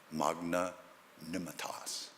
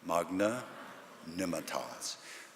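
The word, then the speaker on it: magnanimitas: that fabulous location there's a Latin word 12 letters five syllables one word Magna Nemeth oz say it with me Magna Nimet Oz it means greatness of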